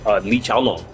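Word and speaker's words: Li Xiaolong: The Chinese pronounce it Li Chaolong, but the Namco, the programmers, to tell you who they're trying to rip off, they named Li Chaolan Li Chaolan.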